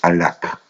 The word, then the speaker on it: Hallak: economista, que se llama Juan Carlos Alac, se escribe Hallak, que es un economista